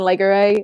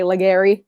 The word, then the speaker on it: Laguerre: penguins french uh prospects like nathan laguerre uh a lot of people say legarry just because that's awesome it is western pennsylvania taylor